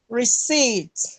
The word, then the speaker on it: receipt: give me the word receipt yes this it good this it because the letter p is silent so we are looking for a word that ends in eat receed deceit and that